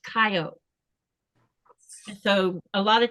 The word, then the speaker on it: Kayo: Now it's spelled Kayo, but it's not pronounced Ko, it's pronounced Kayo.